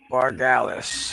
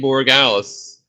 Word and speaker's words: Borregales: Eagles defense special teams, and 13 from Indy Bargalis from New England. Yeah. Yep, you said it right. Indy Borregales.